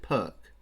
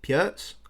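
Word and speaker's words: Pirc: Although I don't think you actually pronounce it Perk. I'm not sure. I think it might be pronounced Pjerts.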